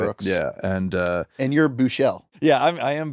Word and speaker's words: Buechele: Yeah, and And you're Buechele. yeah, I am Buechele.